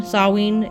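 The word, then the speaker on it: Samhain: switch to s with the h sawing halloween sawween it has the same kind of sounding name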